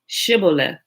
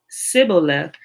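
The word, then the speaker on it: shibboleth: said no i'm not they would tell him to say shibola if he was from ephraim he would say sybilla because people from ephraim cannot pronounce the word correctly then they would take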